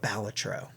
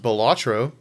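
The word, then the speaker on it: Balatro: it's a great game it's pronounced batro I refuse to change and uh it is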